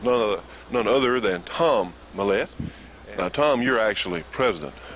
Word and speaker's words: Millett: the milette sight coming a lot of people know him as Millett but the proper pronunciation is mahlet and we're standing here with none none other than Tom mahlet now Tom you're actually